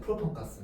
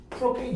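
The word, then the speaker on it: propane: 그래서 프로페인이 아니라 프로팡카스라 그랬어요. 프로팡가스 영어로 프로페인 이거거든요. 프로페인 이거 뭐야?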